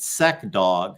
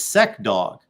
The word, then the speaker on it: SEC Dog: Love this comment from our knucklehead here, SEC Dog, or is it Sec Dog? I think it's Sec Dog.